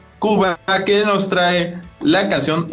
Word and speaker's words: Khuba: Por supuesto, de hecho, ahora traemos una recomendación del grupo Kuba. Se escribe K-H-U-B-A. Kuba, que nos trae la canción El Océano de Dios.